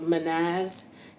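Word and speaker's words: Mannaz: has a meaning so this symbol is called manas it's spelled m-a-n-n-a-z and this is about humanity this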